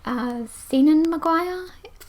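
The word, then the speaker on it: Seanan McGuire: I have Rosemary and Rue by Senan Maguire.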